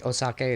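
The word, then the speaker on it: お酒: it's called uh okay osake is how you pronounce sake in Japanese and junai N genu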